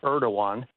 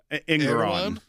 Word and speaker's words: Engoron: against Letitia James and Judge, I call him Erdogan. I don't know if that's the correct pronunciation or if that's the guy in Turkey. They behave the same way. The Turkish president, Erdogan. This is Engoron.